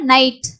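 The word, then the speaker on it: night: ஸோ அடுத்து இது இங்கே வந்து பார்த்தீங்கன்னா கே வந்து சைலண்ட், அப்போ இது எப்படி நம்ம படிப்போம்னா நைட்.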